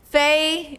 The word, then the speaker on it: Feish: Yeah, fish because fish because sometimes is pronounced as fish. It's just a misprononunciation. It's fine, but you can also call me that.